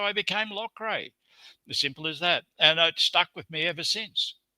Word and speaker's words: Loughrey: I said, "Is that how you pronounce it?" He said, "Yeah, it's Loughrey." I said, "Oh, thank you very much. That was a great comfort." And that's how I became Loughrey.